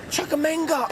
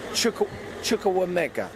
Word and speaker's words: Chukwuemeka: Chukwuemeka. Oh, I pronounced it wrong. Please don't rinse me in the comment. Chukwuemeka.